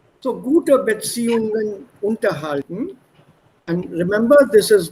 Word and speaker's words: unterhalten: So, gute Beziehungen unterhalten. And remember, this is not separable. The stress will be on the second syllable.